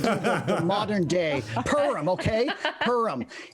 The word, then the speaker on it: Purim: It's pronounced Purim. You Purim. Purim, It's a U.